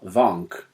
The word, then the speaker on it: Wank: and his name is Theodore Vank, Ah. but it's spelled wank.